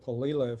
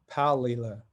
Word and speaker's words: palila: the other day i've been calling it polila for years turns out that's wrong it's palila and it's a hawaiian bird